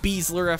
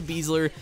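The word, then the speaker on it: Besler: Now, that is how you pronounce it. Matt Beasler. I've heard a few people use him in their squads and pronounce it Beasler. It's actually Beasler.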